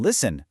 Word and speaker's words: listen: In listen, the T is silent.